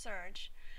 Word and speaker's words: SRJ: research Journal also known by its acronym srj pronounced surge furthers intellectual inquiry while